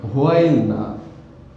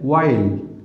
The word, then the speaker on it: while: WHILE এর উচ্চারণ হোয়াইল না, এর উচ্চারণ হচ্ছে ওয়াইল। এখানে ডাব্লুর সাউন্ডটা সাইলেন্ট থাকবে, ওয়াইল। আজকে আমরা ওয়াইল এর ব্যবহার নিয়ে আলোচনা করব।